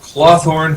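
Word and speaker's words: Clawthorne: Furnishings cloth horn Furnishings as in like clawed Thorn I will spell it for you I realize now that the mic my camera is off and you can't see me doing the hand motions of claw and Thorn I just put it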